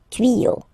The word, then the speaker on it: tuyaux: Same rule, you don't pronounce it. Des tuyaux. Okay, un tuyau, des tuyaux. So the only difference will be with the article, because the word will be pronounced the same way.